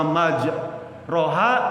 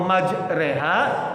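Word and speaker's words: مَجْرٰىهَا: Allah maj roha wa saha gitu ya. Surat apa tuh? Nuh ya. Surat Nuh ya itu salah bacanya. Harusnya baca Allahumma majreha wa mursaha namanya imalah.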